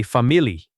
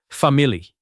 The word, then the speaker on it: family: It looks like three syllables and that is correct, but many learners add an extra one and say family. Keep it short. Family.